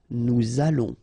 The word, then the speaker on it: allons: Nous allons, remember final S not pronounced. O and together it's on, and then we'll make this little link between the two, what we call the liaison. Nous allons.